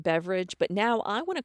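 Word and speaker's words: Beveridge: r i d g I do believe it's pronounced beverage but now I want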